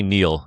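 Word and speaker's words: Niall: Neil Ferguson or Nile Ferguson? I'm pretty sure you say Neil even though it's spelled Nile.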